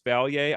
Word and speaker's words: Vallier: I kind of mispronounced and pronounced it correctly there. I caught myself saying Vallier. It's Vallier.